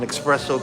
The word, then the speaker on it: espresso: An espresso cake. I'm sorry. There's no X. Espresso cake.